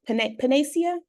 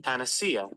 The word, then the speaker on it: panacea: And am I saying it right? Pan panacia. Panacea panacea. Panacea panacea. Let's see. Panacea. Panacea. Yeah, that's what I thought.